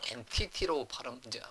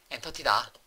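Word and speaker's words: entity: 엔티티로 발음을 해라. 근데 저는 이제 꿋꿋하게 엔터티다.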